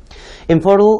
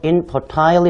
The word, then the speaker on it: infertile: infertile 이라고 하는 단어 혹은 가끔씩 발음하는 사람에 따라서 infertile 이라고도 발음하는데 이 단어는 아이를 갖지 못하는 불임인이라고 하는 형용사가 되겠습니다.